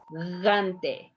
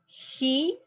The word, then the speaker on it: gigante: Gigante, look this word here, have the two G's and the two of them are going to be pronounced different, like gigante. Listen to me, gigante. Why? Because one is in front of the I and the other is in front of the A. So it's going to pronounce different.